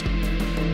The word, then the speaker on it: Jeans: the Division of Genes, Jeans and Jeans (pronounced Johns) had accidentally released over a hundred unique species of genetically modified creatures all over the tall grass lawn.